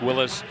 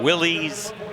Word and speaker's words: Willys: His name was pronounced Willis. The hot rodders and the drag racers started calling him Willies. So that's why we say Willis. That is the correct pronunciation.